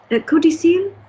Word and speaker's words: codicil: Codicile? Un codicile, j'ai l'impression, quand j'ai regardé dans le dictionnaire, que c'était... Oh, that doesn't help me. Codicile, okay, that doesn't help me. Codicil, it's pronounced codicil.